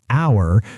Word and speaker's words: hour: up by words like hour or university. Oh, that's a great point. So, it's not about the letter, but about the sound. an hour because the h is silent, but a university because